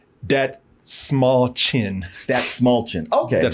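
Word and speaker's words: Dastmalchian: I keep still want to say David Dalmatian. I did that before. No, he took me word by word on how to say his name, because he said that small chin.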